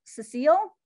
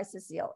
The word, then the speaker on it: Cecil: you will see that her name is spelled cecile but she never went by cecile it was cecil and as an aside